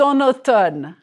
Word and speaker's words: en automne: Did you notice the liaison? Nous sommes en automne. A liaison is when you tie one word to the next with a consonant.